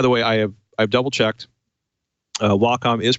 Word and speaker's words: Wacom: Wacom is pronounced Wacom, and it's derived from the Japanese symbol for harmony, wa, and the first syllable of computer, come.